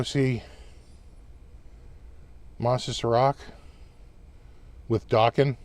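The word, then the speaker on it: Dokken: We went to go see Monsters of Rock with Dawkin, rhymes with Rockin'.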